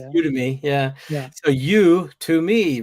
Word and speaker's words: Udemy: yeah, So you to me, right?